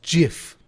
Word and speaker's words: GIF: two dollars and wrote remindkyle.gif is pronounced dot jiff that was what i